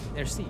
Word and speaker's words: merci: Merci.